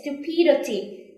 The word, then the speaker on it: stupidity: stupidity remember this there's some students or they will think that they will read it like this wait still p d t but it's not the stress is on here so you said it stupidity this is the o